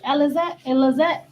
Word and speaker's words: Alizé: Y'all know, how you say her name? Alizé.